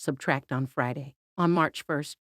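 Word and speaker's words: −: The singer-songwriter will also release his latest album, pronounced Subtract, on Friday.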